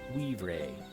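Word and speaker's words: wivre: me to admit it weav Ray that's how they say it they're planning weav rays in this Forest see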